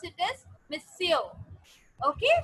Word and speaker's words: monsieur: We pronounce it as monsieur.